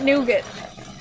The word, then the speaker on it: nougat: say it that way so I don't believe that nougat I like pronouncing the G and the T well I guess you still pronounce the G with the other way but I like pronouncing the cheap but the funny thing is is that it's got an A and I'm pronouncing it like it's an I so it's like maybe I should say and you get oh my goodness okay